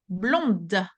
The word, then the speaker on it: blonde: Moi, je suis blonde. Blonde. So the D is pronounced because I'm the one who's speaking, but let's say that Jules est blond.